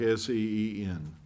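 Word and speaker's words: sagene: or casting their Nets the same net you pronounce that just like s-e-e-n the scene net is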